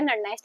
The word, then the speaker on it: Nernst: आप इसको नस्ट बोलो या नस्ट बोलो, लेकिन इसमें एन साइलेंट होता है तो मैं इसको नस्ट इक्वेशन बोल रही हूँ।